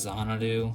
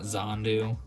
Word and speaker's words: Xanadu: it right now yes I pronounced it wrong in the last video it's Xanadu not zandu I don't know why my brain just totally dismissed the other a in it but it's a really